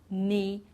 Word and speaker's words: knee: So here we don't pronounce the K, like in knock, knife, knee, and knot.